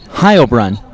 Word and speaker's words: Heilbrunn: Heilbrunn. Did I say it wrong? No, you said it perfect.